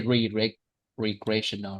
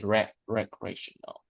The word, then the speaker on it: recreational: Um, however, we don't say re recreational, right? We say rec recreational.